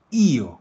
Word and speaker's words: io: No es io, no es yo. No, es io, cargando en la i.